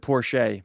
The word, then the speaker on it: Porsche: their Community went not a good idea we pronounce it Porsche but keep going ultimately I think they